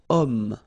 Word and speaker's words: homme: But then O is here, we've got this H letter. Remember, H is not pronounced, okay? So you've got the sound of O at the beginning of this word, okay?